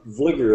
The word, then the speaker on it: Vlieger: pronounce it wrong uh Vigor is the way that I pronounce it leaker okay okay all